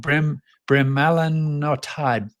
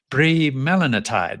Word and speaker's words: bremelanotide: It makes it sound pretty cool, but there's another name called bremelanotide. Bremelanotide. That's it. Bremelanotide. Yeah, there you go. Yeah. The emphasis has got to be on the right syllable.